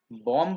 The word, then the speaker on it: bomb: देखो बॉम्ब का प्रोनाउंसिएशन याद रखना, BOMB, बॉम्ब का प्रोनाउंसिएशन बॉम्ब नहीं होता, इट्स बॉम्ब। ये सही प्रोनाउंसिएशन है, ये गलत है। क्लियर लिखा है, बॉम्ब के नीचे क्रॉस बनाया है और बॉम्ब के नीचे की साइड में राइट लगाया है। बॉम्ब इज the pronunciation. ये जो बी है, लास्ट वाला बी, देखना स्क्रीन पे, वो साइलेंट है।